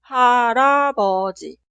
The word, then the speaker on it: 할아버지: En la pronunciación, la consonante final 리을 se traslada al lugar de i응 en la sílaba posterior, porque i응 consonante inicial es muda. Y ahora este 리을 pronunciamos como consonante inicial de esta sílaba. Y como ya sabemos, 리을 como consonante inicial suena R entre las vocales, como R en cara, toro, iris.